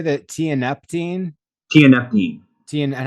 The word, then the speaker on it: tianeptine: tianeptine, And how do you spell that?